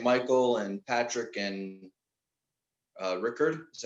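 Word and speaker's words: Rikard: with henrik and michael and patrick and uh rickard is how you pronounce his name the keyboard player yeah yeah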